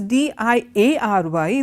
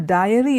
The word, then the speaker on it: diary: If this is D-I-A-R-Y, the other one is D-A-I-R-Y. This is it's not a diary, it is a dairy. So, one is diary, the other is dairy.